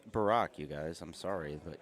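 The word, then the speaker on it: Burek: I guess the U is silent.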